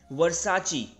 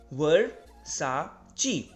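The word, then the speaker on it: Versace: तो ये Italian brand है, इसको प्रोनाउंस किया जाता है वर्साची, राइट, वर्साची, वर्साची। तो इसके actually slippers, sandals and perfume and T shirts, इसको आप प्रोनाउंस करेंगे वर्साची।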